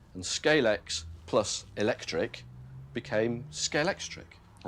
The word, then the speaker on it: Scalextric: Scalex plus electric became Scalextric and that's why nobody can pronounce it properly. Well, they all do it the wrong way around. Yes. Everyone says scalectrics.